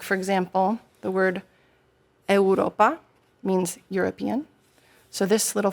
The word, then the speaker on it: eŭropa: And U with a little, like we call it a hook, is a W sound. OK. So, like, for example, the word eŭropa means European.